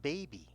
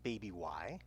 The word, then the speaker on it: baby: And it's the same with baby. The Y helps the A sound long, and the Y has no sound. Baby. It's not baby Y. That would sound really strange. Hey, baby Y. But no, it's just baby.